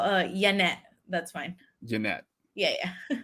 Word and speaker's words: Janet: j and they're like oh like janet jackson i'm like yeah but my mom calls me yanet you know in spanish because that's how she pronounced it so that's how she